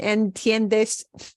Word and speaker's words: entiendes: Palabra, estudio, entre, cocinan, escribes, joven, entiendes. The IE and entiendes, that IE, they walk together. They're a diphthong. Okay, we pronounce them. They both slide into each other. They count as one syllable.